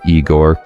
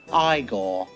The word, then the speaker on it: Igor: making footsteps along with his uh bugeyed assisted Eigore. No, it's pronounced Igore.